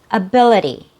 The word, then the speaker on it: ability: The second syllable has a real vowel sound. That's our stressed syllable. It has a short I sound. E, be, be. The last syllable has a real vowel sound. It has a long E sound, but it's also reduced.